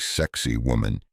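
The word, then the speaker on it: Sacsayhuamán: But whatever it is, it's called sakiwaman, pronounced something like sexy woman.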